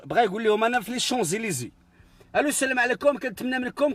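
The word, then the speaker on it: Champs-Élysées: يقول لهم انا في لي شونزيليزي. الو السلام عليكم، كنتمنى منكم كلشي يكون فرحان مزيان فرحان. انا في لي شوبليسيون، بغا ينطق لي شونزيليزي، نطقها بلي شوبليسيون.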